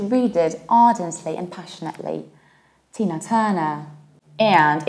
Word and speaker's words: Tina Turner: Tina Turner. And in the American accent, you will pronounce it like Tina Turner with a very colored R. Tina Turner.